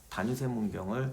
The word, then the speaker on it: 다뉴세문경: 지난 시간에 제가 그 영상 중에서 실수했던 게 단유세 문경을 다세뇨 문경이라고. 내가 원래 옛날부터 그걸 다세뇨 문경이라고 꼭 발음을 해요. 그래서 그날도 내가 확인까지 하고 했는데 막상 찍다가 보니까 또 실수를 한 거예요. 그 원래 대본은 이게 단유세 문경입니다.